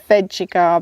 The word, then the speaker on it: Vegegar: that you're given so I've Heard lots of different ways of pronouncing this depending on where you come from in the world but we went with veggiegar because we thought it's like veggie garden and that works for us so let's get on